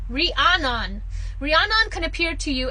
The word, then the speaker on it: Rhiannon: Rhiannon.